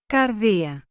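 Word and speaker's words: καρδία: The Greek word pronounced as Κардία is the translation of a Hebrew word found in the Old Testament pronounced as LEV.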